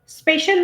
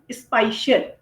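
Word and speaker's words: spatial: होता है स्पेशल resolution स्पेशल नहीं स्पाइशियल इसका प्रोनाउंस थोड़ा सा अलग है स्पाइशियल ठीक है कंट्रास्ट क्या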